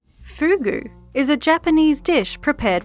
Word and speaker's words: fugu: for his own safety in the shimanoseki region the ancient pronunciation fuku is more commonly used fuku is a homonym